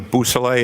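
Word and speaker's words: Beausoleil: Could you say that name again and spell it for us, Yes, please? sir. It's Trooper Jason Bousselet.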